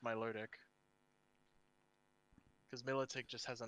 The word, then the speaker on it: Milotic: ticket milotic oh see i like saying military but i know it's my luridic because militech just has